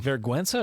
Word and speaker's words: vergüenza: Vergüenza or vergüenza? Vergüenza. Vergüenza. Now, G-U is Dad, pronounced as a W.